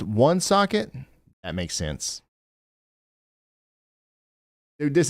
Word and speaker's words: Woonsocket: Woonsocket is pronounced one socket.